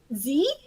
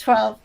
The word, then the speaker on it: XII: So for anybody who is curious, because I've also been told, is it Z? How do you pronounce Z? It's 12. It's Roman numerals.